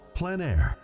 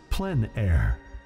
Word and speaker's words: plein air: of outdoor painting called plein air the French coined the term which means open air or outdoors the French pronounce it plenn air others say plein air no matter how you